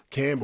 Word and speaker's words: Campbell: Campbell, I always wondered about Campbell. Where's the P and the B come from?